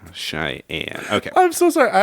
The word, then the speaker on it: Cheyenne: Randall, you don't know how to say Cheyenne? Chianini.